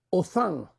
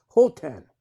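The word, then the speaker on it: Hothan: hebreo la palabra es Othan. Si lo pronunciáramos en inglés sería Hotan, pero es H-O-T-H-A-N. H-O-T-H-A-N y la H es silenciosa en el español, por lo tanto es Othan.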